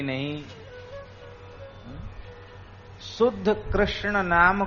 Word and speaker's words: कृष्ण: आपका ऐसे नहीं चलेगा कृष्ण को कृष्णा कह दो यह मंत्र में नहीं चलेगा राम को रामो बोल